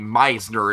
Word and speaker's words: Meisner: Importantly, Meisner is the correct pronunciation, Dragon.